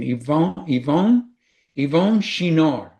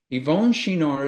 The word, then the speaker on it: Yvon Chouinard: And the one is I wanted to figure out how to pronounce his name. Yvon Chouinard. Yvon Chouinard is the billionaire founder and once CEO of Patagonia.